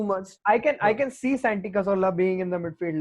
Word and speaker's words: Cazorla: It's Santi Cazorla. Ooh. Have I pronounced it correctly? Yep, correct.